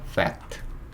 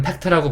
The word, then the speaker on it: fact: fact. 우리는 팩트라고 발음하지만 진짜 원어민들은 이 단어를 fact, fact 이렇게 발음한다.